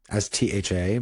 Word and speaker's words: stha: might have heard before, stha, S-T-H-A, but it's not tha, like Seth. It's the TH is a little bit subtly, it's pronounced differently. You pronounce the H. So it's stha.